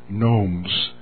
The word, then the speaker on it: gnomes: In fact, the Lord gave me the word gnomes. The G is silent. G-N-O-M-E-S.